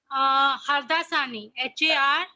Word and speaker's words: Hardasani: Hardasani? Hardasani.